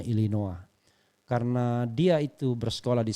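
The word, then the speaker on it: Illinois: keduanya di Amerika Serikat ya tulisannya Tapi bacanya illinoa karena dia itu bersekolah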